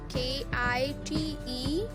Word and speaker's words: kite: pronounce this second spelling k-i-t-e it will be kite because it has vowel e at the end of this word so there will be